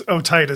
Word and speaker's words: otitis media: How do you pronounce that? It's otitis media.